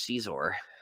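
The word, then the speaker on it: Xizor: And his name's pronounced like if you're saying X in Chinese spelling.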